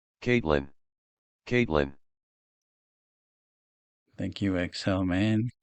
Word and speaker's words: Caitlin: If I say K-I-T-line, I know how to spell it, but here's how you say it. Caitlin.